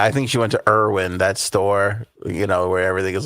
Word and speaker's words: Erewhon: And Rhonda says it's pronounced Erewhon.